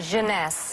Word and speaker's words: Jeunesse: eight ageless what's the company how do you pronounce it jeunesse jeunesse and it's less than 75 retail with